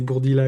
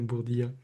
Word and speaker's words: Bourdila: J'ai même fait un rap à la fin de l'épisode pour rappeler que c'est Bourdila et non Bourdilla.